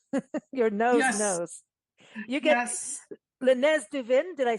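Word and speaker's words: Le Nez du Vin: You get Lenz Duin.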